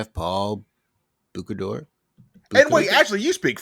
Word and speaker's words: Bocuse: I believe Yes. this actually would be pronounced Bocuse, the last name. I think that's what they said. Yeah. I believe it is the Bocuse d'or rather than because Boku is a word.